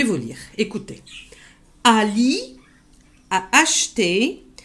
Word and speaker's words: acheté: Ali a acheté. Ça se lit acheter, mais le E, on a tendance à l'aspirer.